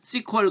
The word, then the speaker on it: SQL: 쿼리 라고 씁니다 그래서 sql 이라고 써놓고 어떤 사람들은 이렇게 시 쿼리 라고 발음하기도 합니다 그런 사람도 있으니까 c 퀄 그래도 아 그 sql